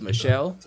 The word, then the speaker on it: Michel: I'm actually hoping Sony Michael slips and we can pick him up. Hey, but that's another story. If you're gonna pick him up, I'm gonna need you to say his name right. It's Michelle.